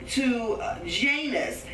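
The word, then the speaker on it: Jannes: Okay, Janus and Jambres, because that J ain't in the Hebrew. But anyway, we just pronounce it in English, Janus and Jambres.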